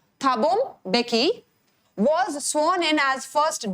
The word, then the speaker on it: Thabo Mbeki: Then Thabo Mbeki, this is the way you are going to pronounce it, ठीक है। Thabo Mbeki was sworn in as first deputy president।